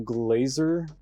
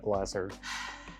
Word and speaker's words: Glaser: directed by Paul Michael Glaser okay I think that's how you say his name probably it's 1s and not two so it's not glass Earth director of something's got